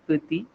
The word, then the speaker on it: petit: For example, the word for small in French is petit, T is silent at the end.